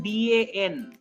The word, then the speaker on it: dans: So here actual pronunciation of the word would be the. S is silent. Why S is silent? That I will tell you later. For the time being, focus on DAN.